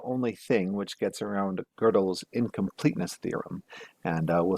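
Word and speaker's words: Gödel: i keep on saying godel it's actually pronounced girdle and i know that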